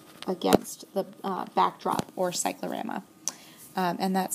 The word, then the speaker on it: cyclorama: sort of wash against the uh backdrop or Cyclorama um and that's spelled c y c c cry c y